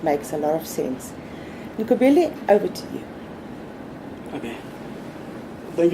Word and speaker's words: Nqobile: My name is Nqobile for proper pronunciation, and the surname is.